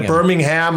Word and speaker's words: Birmingham: things like that so we don't see the Birmingham and Nottingham otherwise we know that you're American